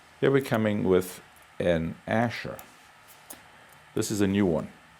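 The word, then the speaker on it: Asscher: The Asher was designed about 70 or 80 years ago, and it's now come back in full force. Asher is spelled A-S-S-C-H-E-R.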